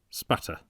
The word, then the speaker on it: Aspatria: Idol until it appeared that the honest English pronunciation of that Cumberland country shortened Aspatria into spatter.